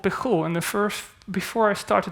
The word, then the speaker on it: Pijul: Okay, the second version control system is called Pijul, and before I start to talk about it, we have to talk about the name because it's hard to pronounce. It's a Spanish word, Pijul, and it is a